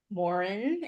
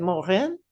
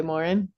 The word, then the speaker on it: Morin: and life coach Morin. Is that how you say it? Yes. I think my French Canadian relatives way back said Morin, but yeah, we've just always gone by Morin.